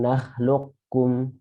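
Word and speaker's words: نخلقكم: Alam nakhluqkum. Lagi. Alam nakhluqkum. Hati-hati, jangan kebalik. Yang pertama qaf, yang kedua kaf. Nakhluqkum. Jadi anginnya itu di akhir.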